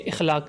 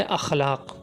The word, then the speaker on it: اخلاق: فلاں شخص بہت اچھے اخلاق کا مالک ہے، حالانکہ اس طرح کہنا غلط ہے۔ صحیح تلفظ ہے اخلاق۔ ہمیں یوں کہنا چاہیے